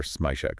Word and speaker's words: Smazhuk: their names are Alexander smash okay and uh you pronounce it Alexander smek so the the there's like the s in measure gotcha and Helena konova